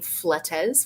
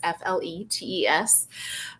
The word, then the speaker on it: Fletes: I'm on LinkedIn as, and then my last name, Fletes, which is spelled like Fleets, Fletes.